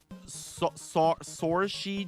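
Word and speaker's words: Saoirse: Uh, I don't remember how to pronounce this, but I think it's Sori Dream.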